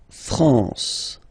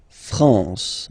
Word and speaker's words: France: nazal okay lour okay La France La France okay n here nazal okay we continue final